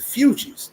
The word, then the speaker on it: Fugees: It's the Fugees, not the Fugees.